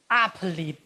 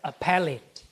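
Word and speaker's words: appellate: Some Chinese people say upate. Appalate. Appalate. Strange, right? It should be pronounced as a pallet. A pallet. A pallet body. Okay. You know the third syllable from the last should be stressed.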